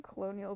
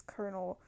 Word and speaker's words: colonel: Um I ended up I kept calling him colonial, but it's Colonel.